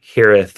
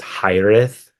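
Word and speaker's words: hiraeth: Hereith was the correct way to say that word is hireth which is like so hard to say for some reason.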